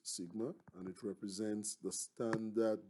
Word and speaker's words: sigma: standard deviation sigma subscript x and this is pronounced sigma it is pronounced sigma and it represents the standard deviation of a